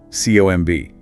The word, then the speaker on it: comb: Or comb. C O M B, but no B sound, just comb.